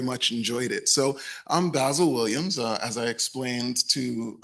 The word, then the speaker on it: Basil: So I'm Basil Williams. As I explained to special to us, Ed, last night, it's pronounced like razzle dazzle.